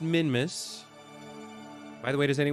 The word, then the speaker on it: Minmus: at zero and now we're perfectly aligned with Min Mrs plane and we can begin pawning that maneuver okay uh it's pronounced minmis by the way does any way play KSP